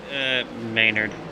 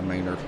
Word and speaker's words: Maynard: I don't know why I keep saying Menard. Maynard. Yeah, Maynard.